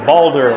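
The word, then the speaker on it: Baldr: Titanic 101 says, B A L D R is mostly pronounced as Boulder, like Boulders's Gate.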